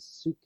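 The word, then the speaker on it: ψυχή: The suke, as the Greeks would pronounce it, the psyche.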